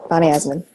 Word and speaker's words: Bonnie Eisenman: Is it Bonnie Eisenman? Is that how you say it? Yeah, that's it. Bonnie Eisenman.